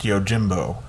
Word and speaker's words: Yojimbo: speaking with who mispronounced yojimbo um he speaks fluent japanese so he knows that the j makes a j sound in japanese he corrected my pronunciation